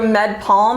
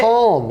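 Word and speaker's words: Med-PaLM: So MedPalm, I think is how you say it. Palm.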